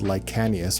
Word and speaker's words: Licanius: to the author's website i believe the pronunciation is lycanus but i call it like genius because everyone else does and to me it actually sounds better so this book basically